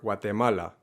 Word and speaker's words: Guatemala: this gloves or guatemala it's not a har g in these cases it is a soft g that happens kind of in the back of your throat and again in many varieties of spanish it's omitted entirely and sounds more like a w and tip number three